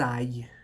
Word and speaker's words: aillent: Que j'aille, que tu ailles, qu'il aille, que nous allions, que vous alliez, qu'ils aillent. ENT, on ne prononce pas.